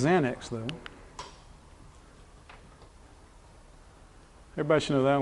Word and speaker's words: Xanax: It's pronounced Xanax, though.